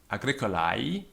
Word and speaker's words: agricolae: Notice that the AE diphthong is pronounced I, agricolae.